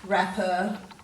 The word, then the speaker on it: wrapper: day 2 page, and all these words have a silent W with them, and we usually see a silent W before an R, as you'll see in all these words.